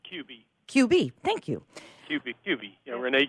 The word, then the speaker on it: Kube: guests Ron Carter and Rene Cube am i pronouncing that correctly its QB QB thank you QV Rene QB thank you